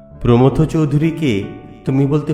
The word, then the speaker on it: প্রমথ: কথায় ছিল গেঁ টান অনেকগুলো শব্দের করতে ভুল উচ্চারণ প্রমথ চৌধুরীকে তুমি বলতে প্রথম চৌধুরী জনৈক উচ্চারণ করতে গিয়ে সর্বদায় জৈনিক বলে